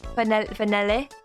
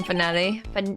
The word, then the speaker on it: finale: Finale? How do you pronounce that in French? Finale? Finale. You wouldn't say the finale E. You wouldn't say a hard E, I don't think, right?